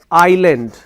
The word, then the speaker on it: island: The letter S is there, but the S sound is not there.